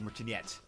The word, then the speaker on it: Martinet: I think his last name is pronounced like like Martinet, like to do the voices like in this game.